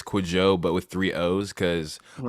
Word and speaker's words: Kwajo: Is that how I pronounce it? Kwajo. It's Kwajo.